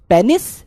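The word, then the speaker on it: penis: जो correct pronunciation है that is पीनस, और वो सही है। तो ज्यादा ज्ञानी बनने की कोशिश ना करी जाए। पीनस भी बोलोगे, पेनिस भी बोलोगे, दोनों करेक्ट है ना।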